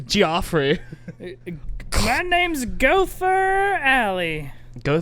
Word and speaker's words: Geoffrey: jesus oh jeffrey tater the g too not a j it's not the normal golfery geoffrey yes i used to pronounce that as again just that's how i pronounce that geoffrey this guy's name is joffrey my name's gopher alley